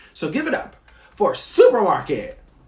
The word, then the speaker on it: SUPRMARKT: So give it up for Supermarket. The website is supermarket.la, and that is spelled SUPRMARKT.LA.